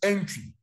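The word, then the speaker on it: Antwi: Memuna Mudi versus Entry. Entry is spelled A-N-T-W-I.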